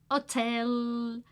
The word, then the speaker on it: hotel: Necesitas un hotel. Remember, we don't pronounce the H.